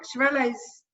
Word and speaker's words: Xarel·lo: Yeah, and what I learned from my holidays in Barcelona was that when they've got the dot, you pronounce the L's, the double L's, but if they don't have the dot, then it's absolutely.